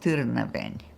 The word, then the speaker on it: Târnăveni: It's pronounced Târnăveni.